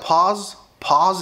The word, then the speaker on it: pause: برضو كلمه شبيهه ليها شويه اللي هي pause انت بتفتح بقك فيها شويه pause، مش بو لا pause ان انت توقف